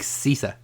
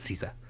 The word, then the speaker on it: Sessa: Dominic Sessa. Sessa, yeah. So at least I think that's how it's pronounced. It's Sessa. I'm going to go with Sessa.